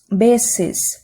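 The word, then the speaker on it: veces: Aqui, gente, a pronúncia é muito parecida com o B de bola. Beses.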